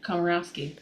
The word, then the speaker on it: Komorowski: how do you say your last name karowski maybe that should have been part of the